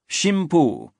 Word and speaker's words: Shimpu: name to this core, Shimpu, an archaic pronunciation of the Chinese idographs for God and wind. An alternate vernacular pronunciation was kamicaz, but that term did not come into common currency until later.